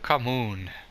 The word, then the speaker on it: Khamoon: I'm doing City of Khamoon. That's how you pronounce it.